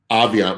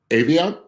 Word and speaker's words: Aviant: And McBee has been, Aviant with a hard A. Aviant.